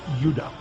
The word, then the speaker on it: Judah: were called Benjamin and Judah more properly pronounced UDA because we didn't get the harder sound to the J until about 200 years ago so this is what